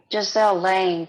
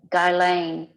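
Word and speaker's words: Ghislaine: ago for joe okay giselle lane too has been executed god she does not know how to pronounce her name guy lane maxwell is it uh-huh epstein's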